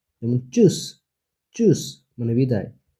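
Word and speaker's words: Tschüss: point উনু ঠে এস সে হা চর মত উচ্চারণ choose choose মানে বিদায় সে কে কয় মত ইয়াককে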